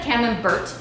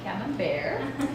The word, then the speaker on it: Camembert: soft squishy squidgy one um camembert looks like cameron bert but it is definitely cabin bear rhymes with songs there that's how you can remember